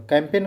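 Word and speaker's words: campaign: कैंपेन चलाती है तो कैंपेन को कैसे लिखेंगे सी ओ सी ए एम पी ए आई जी एन है कैंपेन जी साइलेंट है बस इतना ध्यान रखना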